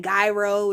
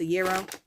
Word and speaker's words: gyro: a lot of times we be saying gyro and Jiro and stuff like that but I think it's actually pronounced a euro I didn't get the